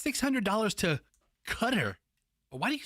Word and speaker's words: Qatar: How much does a 360-pound fish from the Sea of Croatia to Doha, Qatar, to the U.S., how much does that cost?